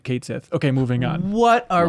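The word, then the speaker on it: Cait Sith: out this week and they said hey by the way we're pronouncing it Kate Sith okay moving on what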